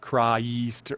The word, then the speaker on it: Christ: But Christ is a 1-syllable word, so your B flat up to F, you don't need, every time you write Christe, that's 2 syllables. Mm-hmm. But if it's Christ, if you're saying Christ have mercy, you've just got to write that as 1 syllable.